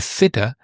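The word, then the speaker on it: θήτα: You have th again, but it's a different sound because the delta is voiced is the and the theta is unvoiced.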